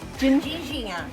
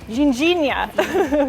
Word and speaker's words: ginjinha: Ginjinha. Ginjinha. Okay. Well, it seems a little early in the day for a tipple, but we've been seeing these little stands selling the local Ginjinha liqueur, so I'm going to give one a try.